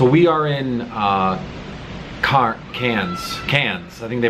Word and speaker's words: Cairns: out this little city how's it pronounced again cairns cans but uh it's low